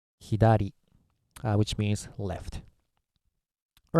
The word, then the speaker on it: 左: this one okay uh Chinese sty rating is sa and Japanese style rating is hiar which means left all